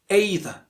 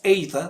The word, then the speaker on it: either: Next one is either. And this one is a very commonly mispronounced one. And we usually pronounce it either. But it has a second pronunciation that is not either, that is either. Either or either.